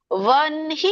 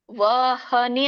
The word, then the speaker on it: ವನ್ಹಿ: ಈ ಸಮಯದಲ್ಲಿ ಗಂಟಲು ಬರಲ್ಲ ವಹನಿ ಅಂತ ಹೇಳುವಾಗ ಗಂಟಲಲ್ಲಿ ಬರುತ್ತೆ ವನ್ಹಿ ಅಂತ ಹೇಳುವಾಗ ಎದೆಯಲ್ಲಿ ಬರುತ್ತೆ ಗಮನಿಸಿ ಸೋ ಇಲ್ಲಿ ಹೇಳ್ತಾ ಇರುವಂತದ್ದು